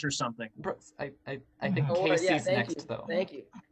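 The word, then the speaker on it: Kacie: you notice but uh my name is spelt k-a-c-i-e that is not how casey is supposed to be spelled just wrong a lot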